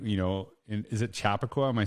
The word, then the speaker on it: Chappaqua: time uh connecting you know in is it chappaqua am i saying it right chappaqua yeah to get it to chappaqua yeah just